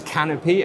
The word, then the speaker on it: Canopi: the uh canopy portfolio what is it exactly pronounced correctly thank you yes it is canopy and it's a great